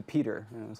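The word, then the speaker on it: Petyr: If anybody listens to the audiobooks, his name is pronounced Patire for 3 or 2 books. I forget how it is. No kidding. Yeah, Patire. And then suddenly in the audio recordings, it changes to Peter.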